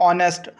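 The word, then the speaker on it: honest: अगर हम बात करें जैसे कि ऑनेस्ट यहां पे जो एच है वो हमारे पास साइलेंट होता है तो हम यहां पे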